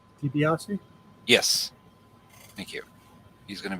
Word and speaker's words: DiBiase: DiBiase?